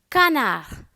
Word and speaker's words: canard: Canard.